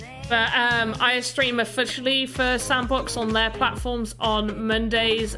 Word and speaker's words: Sandbox: it wrong before uh it's not the same box game just sandbox sandbox dot game go